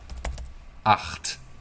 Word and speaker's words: Acht: Acht. It happens in your throat, people. Ach. It's like if you're gargling water, you know? Try to gargle water in your brain.